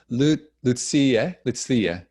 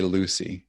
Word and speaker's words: Lucia: That's the phonetic pronunciation of my name. Ah, that's awesome. Lucia. That's great. So I won't say Lucy.